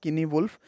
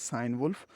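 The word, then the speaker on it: Cynewulf: is sign wolf are some people pronounce it guinea wolf but the common and the prevalent pronunciation is sign wolf and the time period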